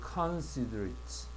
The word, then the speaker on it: considerate: 근데 얘는 considerate considerate considerate라고 발음하세. 우리가 보통 ate는 두 개야. 하나는 형용사로 쓰일 때고 하나는 동사로 쓰일 때데 동사로 쓰일 때는이 발음이 트로 발음하죠. 근데 형용사가 되면 it라고 반응을 한다.